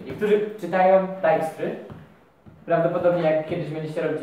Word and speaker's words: Dijkstry: Ja czytam Dijkstry. I brzmi najlepiej według mnie. Niektórzy czytają Dijkstry.